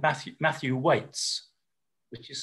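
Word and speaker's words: Waites: And then in terms of more individual researchers, there's a researcher called Matthew Waits, which is spelled W-A-I-T-E-S, who's been working on consent and sexual consent probably for 25 years and has produced a book specifically.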